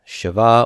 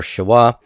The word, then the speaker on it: shewa: is a Shiva and that is spelled as sh e W a Shiva or Shiva and this uh this